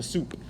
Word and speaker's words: sup: way soup of a it looks like salt but it's soup pronounced soup i'm gonna this is